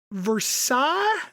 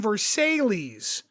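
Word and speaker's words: Versailles: a a town called versa and she's like Versa and I'm like yeah Versa v e RS a i l l e oh honey you mean versales oh yeah that's right down the road about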